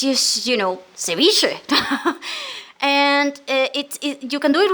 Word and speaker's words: ceviche: Oh my god, if you taste a Peruvian ceviche, my god, you like the fish and you're